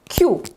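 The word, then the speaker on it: queue: to wypowiemy po angielsku uwaga q jak q to czyta się tak samo jak tą literkę po prostu jest to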